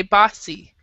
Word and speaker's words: bossy: So we say bossy. So it's an ah sound.